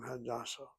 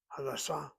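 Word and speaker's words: הדסה: If you accent the first syllable of the Hada, that's the name Hadassah. If you accent the second syllable, Sa, Hadassah, that's the hospital.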